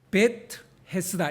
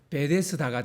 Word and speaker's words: 베데스다: 그러니까 아람어로는 베트 헤스다 이렇게 돼요. 베트 헤스다. 그런데 이게 이제 당시는 또 헬라어가 또 그 당시 지배적인 언어다 보니까 이걸 또 헬라어로 발음하면 베데스다가 되는 거예요. 그러니까 베데스다는 실제로 히브리어가 아니고 헬라어입니다. 헬라어 발음이에요.